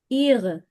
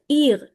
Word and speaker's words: ihr: पीछे अ की साउंड नहीं आएगी, इट्स लाइक ईर। यहाँ पे आएगा Ihre. ईर, या फिर ईरे, जैसा भी आप बोलना चाहें। तो मैस्कुलिन इट्स ईयर, ईर।